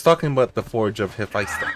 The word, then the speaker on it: Hephaestus: the site where Hephaestus built a home for Aphrodite.